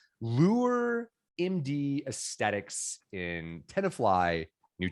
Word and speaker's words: Lueur: So I'll take a stab here, but do come and save me and throw me an arm floaty and pronounce it correctly. Lueur MD Aesthetics in Tenafly, New Jersey.